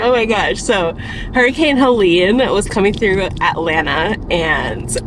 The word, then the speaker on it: Helene: Yesterday after work, we had like that tornado watch warning of Hurricane Helena. Helena? It's Helena, right? It's pronounced Helene. Helena. Helene. Okay.